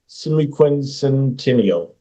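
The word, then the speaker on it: semiquincentennial: celebrating the nation's semiqu semiquincential that's the correct way to say that uh they're exposed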